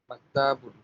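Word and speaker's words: مَكْتَبٌ: এরপরের শব্দটা আমরা কিভাবে উচ্চারণ করব? মাক্তাবুন, মানে যে মাক্তা পৃথিবী বলে যে থামলে হবে না।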